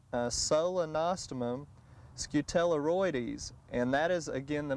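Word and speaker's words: Solenostemon scutellarioides: share that with the garden center and it's pronounced a solenostomum scutelleroides and that is again the most up-to-date genus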